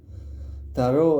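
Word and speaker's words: tarot: to a rot or taro without T at the end, which is how the old ones pronounced it, wrote it.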